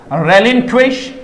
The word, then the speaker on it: relinquish: RELINQUISH, रेलिंक्विश। Pronunciation पर ध्यान देंगे प्यारे बच्चों, रेलिंक्विश क्या होगा? रेलिंक्विश क्या होगा? रेलिंक्विश होगा। जैसे किंग वैसे रेलिंक्विश, इस प्रकार से आ गया रिनाउंस, रेलिंक्विश।